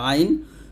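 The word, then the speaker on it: عين: এরকম ভাবে তারপর হচ্ছে আইন কন্ঠনালীর মধ্যখান থেকে উচ্চারণ করতে হবে আইনটা অবশ্যই চাপ দিতে হবে এখানে চাপ দিয়ে অথবা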